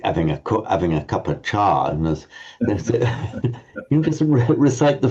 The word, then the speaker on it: ca: You can either pronounce it as a cha as in northern India, or even a ch, which is how Shirinamala and Dili and Sinhala speakers would pronounce it. But the important thing is to keep it short.